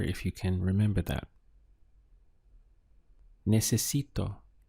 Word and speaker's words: necesito: Necesito. So we have ne, se, si, to. 4 syllables.